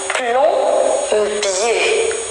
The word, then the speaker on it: plombier: Généralement, le OM et les AM marchent bien avec les lettres P et B. Un plombier. Un plombier. Donc, pour prononcer ce M-là, on doit avoir après la lettre B ou bien la lettre P.